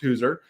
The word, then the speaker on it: Hauser: But another true freshman comes into the fray, Nolan Hooser, spelled Hauser, pronounced Hooser, Nolan Hooser.